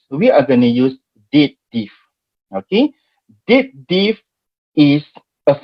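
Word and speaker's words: DATEDIF: Okay, date diff. It's been pronounced as date diff, not dated if, date diff, because date difference. Dated if is what past tense of if, macam tu.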